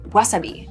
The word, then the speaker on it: wasabi: This is an example of a word that has taken on kind of weird pronunciation through going into English. Wasabi is pronounced wasabi in Japanese.